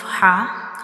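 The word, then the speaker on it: ح: Our throat has three portion bottom, middle and upper portion and ha is pronounced from the middle part of the throat.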